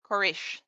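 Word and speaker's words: Quraysh: he was born to the quarries tribe I always mispronounce it I apologize korish thank you uh it was a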